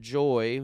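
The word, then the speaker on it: Joi: And they have the men's side, which is Blokes, and then Joy, which is spelled J-O-I, is the female side.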